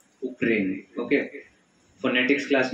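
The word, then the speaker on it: Ukraine: This is not actually pronounced as यूक्रेन, इसको क्या बोलते हैं, उक्रेन।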